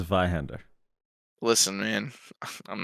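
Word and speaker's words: Zweihänder: It's pronounced Vihander.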